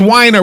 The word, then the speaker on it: Weiner: It's pronounced Weiner.